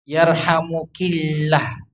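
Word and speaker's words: يرحمكِ الله: Yarhamukillah. Jadi kaknya diganti ki. Yarhamukillah. Jangan sampai salah.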